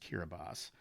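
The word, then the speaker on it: Kiribati: Even more oddly, the equatorial Pacific country of Kiraabas, it's spelled like Kiraabati, but it is pronounced Kiraabas, because its islands are spread over such a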